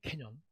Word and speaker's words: 캐년: 이거 발음 잘해야 돼. 잘못하면 욕 나와요. 캐년이에요. 캐년. 개가 아니에요.